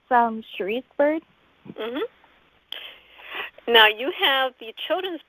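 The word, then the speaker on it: Cherice Byrd: i'm your host emma luzchak i'm here with sheri's bird welcome thank you now i'm hoping i get your name pronounced correctly uh yeah it's from sheriff's bird now you have the children's book abc what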